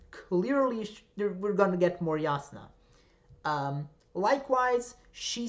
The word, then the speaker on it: Jasna: whose name is pronounced yasuna not jasna i've been told um which is actually quite interesting because that is how you would that is the name in my language serbian yasna like there there are